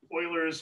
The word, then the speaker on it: Euler: Euler's method, pronounced Euler.